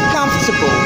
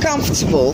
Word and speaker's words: comfortable: first to start with the f o r isn't pronounced four so within the correct so we have come for table but when you pronounce this word those segments together it's pronounced comfortable it's pronounced comfortable when